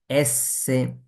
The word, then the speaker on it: s: তারপরটা কি এর কি এসএ এস এস বললে হবে না কি বলতে হবে এসএ খেয়াল করুন এর এসএ